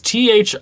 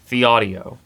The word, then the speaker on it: Thieaudio: Everyone kept saying Thieaudio Phantoms, and it looks like it should be pronounced Thieaudio Phantoms. It's Thieaudio. Thieaudio.